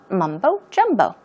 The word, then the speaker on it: mumbo jumbo: so yes mumbo jumbo stress these syllables mumbo jumbo it means meaningless nonsense